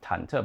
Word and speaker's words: 忐忑: Oh, the word is pronounced 忐忑, by the way, and it has nothing to do with the upper parts of the characters.